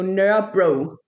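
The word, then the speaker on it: Nørrebro: So, it's N the Danish O with the line through a R E B R O. So, nur bro.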